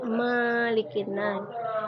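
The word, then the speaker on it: مَلِكِ النَّاسِ: Begitu juga dengan Malikin Nas. Biasanya ibu mendengar anak-anak membaca Malikin Nas. Di huruf ma itu tidak panjang. Kita membacanya seperti biasa, Malikin Nas.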